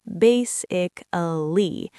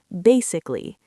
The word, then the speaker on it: basically: A lot of learners over pronounce every syllable. They say, "Basically." But, native speakers completely drop the letter A in the middle. We compress it into three syllables, basically. Basically.